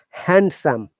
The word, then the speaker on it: handsome: a clue you said handsome remember one hand and some are together the d is not pronounced so handsome becomes handsome phantom very good no decent